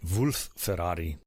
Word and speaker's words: Wolf-Ferrari: Ensemble their chamber Ensemble wolf Ferrari's mother was Italian and his father was Bavarian so I guess I should pronounce it Wulf Ferrari hermano himself was from